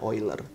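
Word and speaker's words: Euler: atau biasa disebut sebagai oil from the hai tulisnya eagler ya dibacanya oil boiler for menyatakan bahwa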